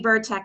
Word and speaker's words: Burchek: It's actually Burchek is how you pronounce it.